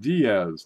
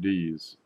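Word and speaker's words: Díaz: over here dee has it's pronounced Diaz not deez dies jeez I don't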